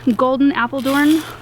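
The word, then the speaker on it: Golden Apeldoorn: And then I got Clouds of Cotton Tulips, really pretty, white and purple, and Golden Appledorn, that's how you say it.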